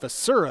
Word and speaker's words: Viscera: One of those names that I see it's spelled the same, pronounced different ways in different areas. It just always mess it up somehow. But Viscera is what I was told before game, so that's what I'm going with.